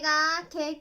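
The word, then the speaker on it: 義兄: Un autre exemple d'utilisation de « kei » est de dessiner « ぎ兄 » et de le lire comme « gi kei », ce qui signifie « beau-frère aîné ».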